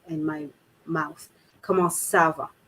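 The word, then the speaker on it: ça va: of letters okay so this here would give you a much more softer c sound in word so your your c here would be much more of an s rather than a hard c okay uh because c tends to be much more a harsher word so come on sava so you see i'm the sava all right so i'm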